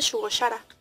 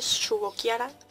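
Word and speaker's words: Shugo Chara: me habían dicho que no se dice shugo shara que se dice shugo kara shiara o algo así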